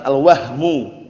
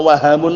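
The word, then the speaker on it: الوهم: Dikatakan al-wahmu. Jangan antum bacanya keliru ya, karena wahamun lain lagi. Al-wahmu bisukuni al-ha.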